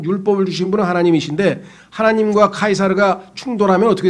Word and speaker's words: 카이사르: 원래 라틴어니까 로마의 언어 라틴어는 C가 K로 발음이 돼요. 그래서 카이사르가 되고 키프로스가 되는 거예요.